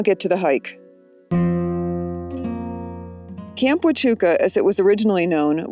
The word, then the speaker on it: Huachuca: Huachuca Huachuca To pronounce better, Wa-chu-ca. Wa-chu-ca.